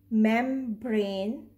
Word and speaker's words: membrane: still pronounced like in combine combine membrane i'm sure that you can hear both sound m and b and b so now